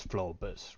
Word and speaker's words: Flohbus: It is spelled FLOHBUS. The H is silent, but like flow and bus, just the H Okay.